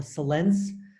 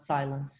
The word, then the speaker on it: Sillence: The types 1 to 4 were originally part of what's called the Silence classification. That's how it's pronounced, not silence, Silence.